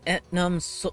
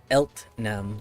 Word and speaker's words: Eltnam: My name is Etnam. Damn it, I don't think I pronounced her name. It's, Eltnam. Yes, there we go.